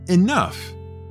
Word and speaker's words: enough: the other for example the word enough contains a combined o u sound while the gh produces an f sound however in order to